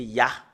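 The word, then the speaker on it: יה: Le fait de le prononcer, c'est Ya.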